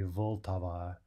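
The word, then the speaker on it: Vltava: sound itself are that can also happen in check with L for example the river that runs through Prague is the Volta Volta right spelled VLT a V a now Russian doesn't really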